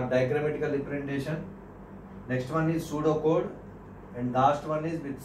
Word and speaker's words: Pseudocode: Pseudocode. P is silent here. Pseudocode means how many for loops we are using, how many if conditions we are using.